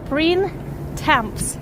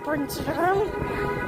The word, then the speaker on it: Printemps: Like imagine like old French words where you just say first 3-4 letters and the rest of the word you just like this. So it sounds like Printemps.